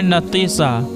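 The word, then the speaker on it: Natisa: नईमा नमा की माने नेमत वाली नाम है नतीसा नतीसा के माने इलाज करने वाली और इसकी स्पेलिंग है एन ए टी आई एस ए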